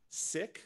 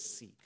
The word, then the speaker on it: Sikh: here in Indiana no the religion is pronounced sick spelled s-i-k-h you will often hear the Americanized pronunciation which is seek so you may hear either of those pronunciations the sick Faith arose in the